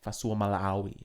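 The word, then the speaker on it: Fa'asuamaleaui: And at lock, we've got Tino Fasuamalawi.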